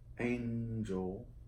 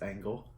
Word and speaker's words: Angle: Halo Enhance Carrot, spelled like diamond carrots. Yeah? Princess Cut Angel, or Angle. It's Angle.